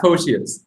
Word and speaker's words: Pocius: And on today's show, I have Matt, and I don't know if I can pronounce your last name. How do you say it? Matt Pocius.